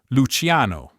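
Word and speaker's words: Luciano: Luchiano, ciao, gelato, grijo. Note the i in luchiano and grijo is silent. Its role is only to soften the consonant before a, o, u, h or any consonant.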